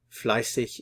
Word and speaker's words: fleißig: The pronunciation, this character is the scharfes S, which is, it's like a double S. So the sound is fleißig.